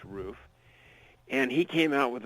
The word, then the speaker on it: Ruf: a a a a roof which is Ruf some people pronounce it rough but it's actually pronounced roof and he came out